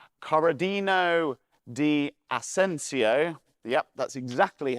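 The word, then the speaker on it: Corradino D'Ascanio: needed cheap, reliable transport, and an engineer called Corradino di Asensio, yep, that's exactly how you pronounce it, came up with this revolutionary design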